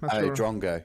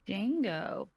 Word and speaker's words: drongo: Oh, I was pronouncing that so wrong. How did you say it? I think I said Django.